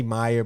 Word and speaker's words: Mayer: They say Meyer, but it's spelled Mayer, like Oscar Mayer Wiener.